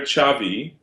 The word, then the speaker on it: Xavi: And his brother Xavi, Xavi, and Really? he, That's how you spell it?